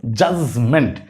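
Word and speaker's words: judgment: জাজমেন্ট। প্রথম অংশে জাজ, পরের অংশ মেন্ট, জাজমেন্ট। এর আগের একটা ক্লাস আপনাদেরকে ওইটাও শিখাইছিলাম যে কোথাও ডিজিই একসাথে যদি দেখেন তাইলে তার উচ্চারণ হবে জ, কি হবে?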